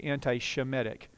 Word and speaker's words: Semitic: Sem, that's Shem. If we were going to say it properly in our English translation, we would say anti-Shemitic.